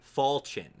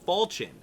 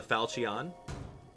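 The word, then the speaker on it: Falchion: anyway that was cool fall chin like falling on your chin that's how I remember it I used to call it the Fon it was crazy it's crazy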